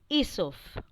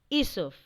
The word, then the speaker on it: Aesop: an intelligent man named Aesop. A E S O P. Now, children, A is silent, so it is pronounced as Aesop.